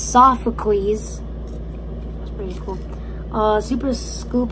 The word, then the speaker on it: Sophocles: For people that don't know how to pronounce him out there, it's Sophocles.